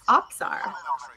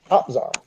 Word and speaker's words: OPZR: Oh, also, Onakazi asked OPZR how to say the name, and apparently it's Opzar. Opzar. So I've been saying it wrong for a really long time.